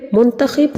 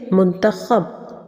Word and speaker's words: منتخب: بلکہ خودکشی ہوتا ہے۔ پھر منتخب نہیں ہوتا، صحیح لفظ ہے منتخب۔ مشاہدہ نہیں ہوتا بلکہ